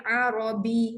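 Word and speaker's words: عربي: Jadi Arabi, berat sikit pada huruf ya tu.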